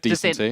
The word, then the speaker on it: Decenty: Yeah, it's just like the Sentai. The Sentai. We don't want another Zaiwu Ziru situation. So we're going to go with Decenty.